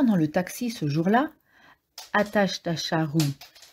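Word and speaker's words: Ajatashatru: confondu en entrant dans le taxi ce jour-là attache ta charrue prononcé Hachette un chat roux avec tout de suite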